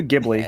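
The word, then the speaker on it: Ghibli: Let's do Giblly. That's how you pronounce it.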